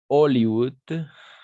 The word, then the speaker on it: Hollywood: de la même façon Hollywood and soft d'accord et Hawaï d'accord en français on ne prononce pas le H parce que le h